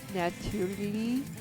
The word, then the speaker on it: natürlich: So it would be natürlich. Natürlich. Natürlich. So it would be natürlich. Cool.